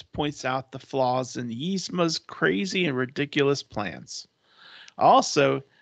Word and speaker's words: Yzma: YZMA. Yzma. Yzma. Kronk is Yzma's young and handsome right-hand man. Although he isn't very bright, he's an excellent chef, and he oftentimes points out the flaws in Yzma's crazy and ridiculous plans.